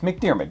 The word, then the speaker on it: McDiarmid: It's McDiarmid.